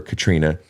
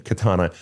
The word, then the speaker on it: Katana: that you do remember Katrina uh or Katana I'm sorry I've been mispronouncing your name Katana you've got so many